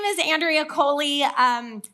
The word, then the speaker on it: Coli: Uh, my name is Andrea Kohley. Um, spelled like E. coli without the e, but pronounced koli.